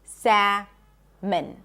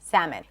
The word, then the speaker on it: salmon: So we do not pronounce the L in English.